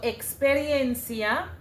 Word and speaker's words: experiencia: So experiencia the e x is actually translated to ks and the meaning of experiencia is experience in English.